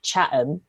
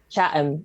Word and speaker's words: Chatham: a a town called chatham except no one pronounces the t so you call it chatham chatham and you don't say